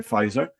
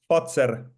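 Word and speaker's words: Pfizer: say is it f it's not fizer as in the madna thing. It's fater. Fatser fatser. Fater correct. Correct.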